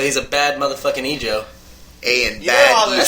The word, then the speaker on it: Ayanbadejo: So it's pretty much saying A and bad Ejo. So he's a bad motherfucking Ejo. A and bad Ejo.